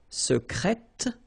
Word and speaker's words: secrète: Secret, secrète, secrètement. Because I tend to insist a little bit on it just to make you hear the difference between the masculine. Secret, secrète. Okay, you're pronouncing the T.